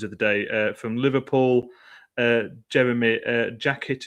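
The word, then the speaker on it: Jérémy Jacquet: Jeremy Jacket is the pronunciation I'm going for there.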